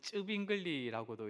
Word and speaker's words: 츠빙글리: 그다마 많이 들어보는 이름이이 츠글리 또는 쭈빙글리라고도 이렇게 발음을 하고 뭐 또 그 외에